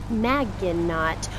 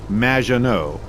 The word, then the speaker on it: Maginot: Maginot, welcome to the show. Thanks, Amy. However, you have mispronounced my name. It's Madge, which rhymes with badge, as in duh, and no as in more than you. Maginot.